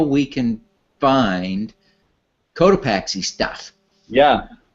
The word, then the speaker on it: Cotopaxi: go to our website cotopaxi calm it's a little tricky word but it's spelled the way it sounds so co t OU PA x I and if you just